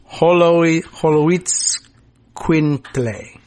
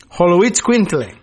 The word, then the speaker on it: Xoloitzcuintle: If I could hear it pronounced, I think I could learn it. But Holoitz Quintle. Wow. Quintle. Holoitz Quintle.